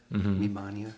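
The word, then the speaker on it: Me-Mania: Um it's when Mim Mania or the the stalker Mimmania they pronounce his name Mimmania in the English version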